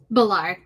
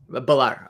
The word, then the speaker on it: Ballar: today I'm hanging out with I hope I'm pronouncing your last name correctly is it Valar balar balar okay thank you it's locked up in here